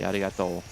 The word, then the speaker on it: arigato: one word arigato and the o also has a hyping over it because you have a u at the end actually arigato which is just uh thank